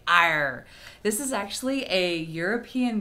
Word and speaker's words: EIR: of fun to say iron I'm not sure if I'm pronouncing it right they say it's like air with a softer a sound so if I'm